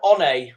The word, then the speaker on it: One: Wilder and on comes Ryan on which is spelled like Ryan one RX saki's day is